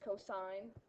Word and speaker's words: cosine: really really annoys me when people say Co it's not Co it's cosine we just shorten it